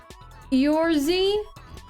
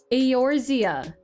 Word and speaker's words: Eorzea: Yorzy? Chat, I feel like I'm just humiliating myself. How do you pronounce this? Eorzea? Eorzea.